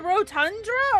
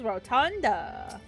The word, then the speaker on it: rotunda: Is it a rotundra or a rotunda? That says rotunda. Have I been saying it wrong this whole time? Have I been hearing it wrong this whole time? I thought it was a rotundra.